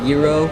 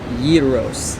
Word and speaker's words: gyros: about this food that you probably call a gyro or a zero or a gyro and no one really seems to know how to say it you actually say gyros and that's actually for one so singular I would like a gyros so that's how you say it euros and we're about to